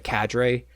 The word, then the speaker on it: cadre: the armies, and the cadre. I actually just realized, I found out that it's a French word. It's actually pronounced cadre, so we're butchering it over here. Just say cadre.